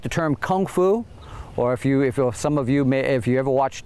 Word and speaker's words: kung fu: Lee, The Green Hornet, because it was Cantonese, the K sound is pronounced like a G sound, say gong fu.